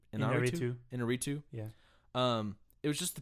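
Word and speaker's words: Iñárritu: Inarritu.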